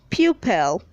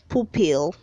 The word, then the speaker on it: pupil: red 336 says pupil say pupil down say poo pill word 337 says plagiarism